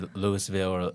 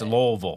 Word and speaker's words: Louisville: That's like like you know people say Lewisville or Louisville and it's Louisville. Louisville.